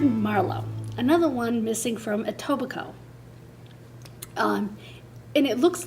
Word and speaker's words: Etobicoke: another one missing from Etobicoke and it looks like a Tubba coke but the K is silent he went missing July